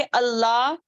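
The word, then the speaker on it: الله: हाँ को अदा ना करना जब वो आखिर में आ रहा है, जैसे कि अल्लाह, अल्लाह पढ़ देती, या अब अल्लाह का स्पेलिंग क्या है, उस, उसको क्या क्या हुरूफ लेना पड़ता है, अलीफ लाम लाम हा, ठीक है। अल्लाह, अल्लाह, हा, हा को अच्छे से अदा करना है, ठीक है।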